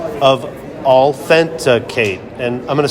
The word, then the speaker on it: Allthenticate: and c o of authenticate and I'm going to spell that for you so you know what it is it's all a l l thent t h n t like authenticate authenticate authenticate Rita welcome to